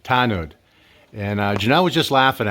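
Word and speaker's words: tanod: Tanud.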